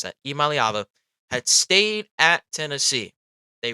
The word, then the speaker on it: Iamaleava: But the Tennessee, if Nico Iamaleava, that's how you pronounce that, Iamaleava, had stayed at Tennessee, they wouldn't be going out and trying to get a new quarterback.